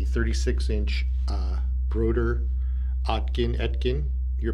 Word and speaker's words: Oetken: instrument it's a 36 inch uh broder atkin atkin your pronunciation is fine uh schumann resonance gum this